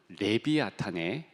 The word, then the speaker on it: 레비아탄: 그 이름을 추천하겠노라고 생각했었습니다 이 이름은 오늘 본문에 나오는 리워야단의 원래 발음 레비아탄의 준말입니다 이 동물이 얼마나 대단한지요